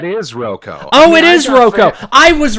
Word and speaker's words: Rocco: It sort of changed from sort of its Italian origins. I've got family back out east who prefers the Rocco. I prefer Rocco, and my mother, all